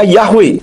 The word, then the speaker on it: Yahweh: yih dan bukan Yoh huruf waau he dibaca we dengan huruf he akhir Tidak kedengaran contohnya dalam Kitab Keluaran 34 ayat yang ke-14 yang berbunyi kilotistakaw Le l Akir ki yahwe kanasmo l kanahu perhatikan huruf wau dan he di situ terbaca W dengan huruf ha akhir Tidak kedengaran jadi Yod he ww he itu jika dibaca bunyinya yahwe dengan huruf he di belakang